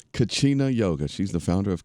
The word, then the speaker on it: Kachina: She is the founder of how do you pronounce that, Nicole? It's Kachina. Kachina Yoga.